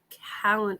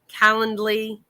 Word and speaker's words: Calendly: don't know why uh callan calan i was saying it wrong somebody corrected me calendly calendarly whatever calendly very inexpensive for people